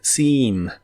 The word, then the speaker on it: seem: Se pronuncia con una I larga o doble, seem, seem, y en el presente lo usas en ideas como The day seems nice.